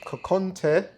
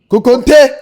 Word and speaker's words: Kokonte: Kokonte or Kukonte! or Say it properly, Kukonte!